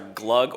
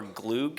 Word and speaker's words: glogg: the returning skiers and the two pronunciations are glug or gloog is that what you